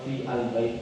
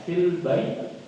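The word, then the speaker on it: في البيت: Dibacanya disambung aja fil langsung. Ya, atau kalau baca awal fi al bait, tapi terlalu repot, langsung aja fil. Ya, kita baca Quran ya, fil bait.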